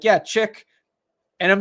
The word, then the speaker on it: chic: Chic was like SHEEK or something, like something.